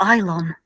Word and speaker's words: Ilon: Is it Elon or Ilon? I think it might depend on your pronunciation. On Memory Alpha, the Star Trek wiki, it is ILON.